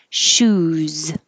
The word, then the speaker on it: shoes: having a huge sale shoes shoes looks like an s but sounds like a z and shoes put your shoes on shoes on this needs a clear z so if you have